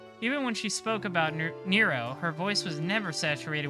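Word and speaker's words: Nrvnqsr: around killing them yeah every time i see the way his name is spelled i try to pronounce it normally and then i just remember it's nero nirvin's career the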